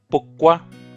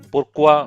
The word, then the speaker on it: pourquoi: पुक्वा. यहाँ पे र भी साइलेंट है. पुर्क्वा भी बोलते हैं but doesn't sound very French.